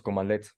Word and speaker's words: cmdlet: CMDLETs, que esto está abreviado es Commandlets. En el corazón de PowerShell se encuentran los Commandlets pronunciados, sí, Commandlets.